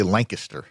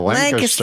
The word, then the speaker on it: Lancaster: I say Lancaster. There you go, Lancaster.